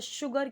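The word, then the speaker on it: sugar: शुगर cane, ये जो लिखा हुआ है एस यू, क्योंकि यहाँ पे एच नहीं है, हमें पता है एस एच होता है श, तो यहाँ पे एस यू सू होगा, शुगर केन, लेकिन करेक्ट प्रोनाउंसिएशन क्या है, शुगर केन, शुगर।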